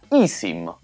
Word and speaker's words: iSIM: e oggi parliamo di isim che preferisco chiamare i SIM per non confondere con quello che si pronuncia in inglese i Sim che sarebbe poi Lasciamo